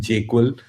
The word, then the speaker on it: JQL: He's team jQuil and you can see that in the confluence screenshot that you have.